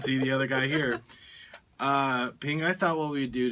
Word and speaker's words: Phing: yes which one so my name is pH ing but it's pronounced ping but if you like to call me thing I prefer ping ping personally you like to